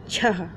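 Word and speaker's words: छः: अब जैसे कि है छ, छ में हमने जब अह की मात्रा लगाई तो इसे पढ़ते हैं छह।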